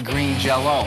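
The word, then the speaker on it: Green Jellÿ: to a Y, and put 2 dots over the Y, which is pronounced O, of course.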